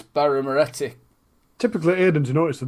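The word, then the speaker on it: Birra Moretti: With a bit of I've been saying it wrong for ages. I always say Baramotti, but it's Baramoretti.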